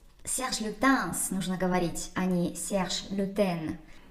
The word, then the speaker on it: Serge Lutens: танцы можно говорить они serge lutens serge lutens именно так это звучит по-французски иногда некоторые французы могут забыть про последнюю букву s и произнести лютон ну именно потому что